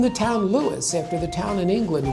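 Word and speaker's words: Lewes: more palatable name, and we've been Lewis, two syllables, ever since.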